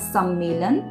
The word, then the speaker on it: सम्मेलन: में नहीं बदलेंगे तो इसको बोला जाएगा और पढ़ा जाएगा सम्मेलन और इस पर हम